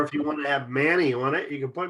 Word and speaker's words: Mani: Because if you took M-A-N-I and put Quinn on the back, it would be Manny.